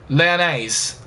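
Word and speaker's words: Lyonnais: for 2 years uh it's pronounced uh Leon leonise leonise Okay cool so it's olymp leonise so we're going to call him leonise uh from now on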